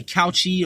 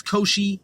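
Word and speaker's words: Cauchy: calculus then you have Koshi sequences which is spelled CA you see hy some will say kouchi or CACCI pronunciation that i have seen and heard and observed as Koshi sequences and then finally also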